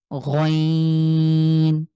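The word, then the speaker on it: غين: তো ইনশাআল্লাহ আইন আইন এরপরে হলো বাংলার গ এর মতন গ তবে একটু কন্ঠের শেষ থেকে আমরা ট্রাই করবো গ টাকে আমরা স যেভাবে উচ্চারণ করেছি সেম তাহলে এটা হলো আইন গাইন আচ্ছা এরপরে দেখেন এরপরে হরফটা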